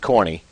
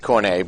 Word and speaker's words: Cornet: Jeff Cornet, I don't think it's pronounced Corny. I think it's Cornet, but we could be wrong.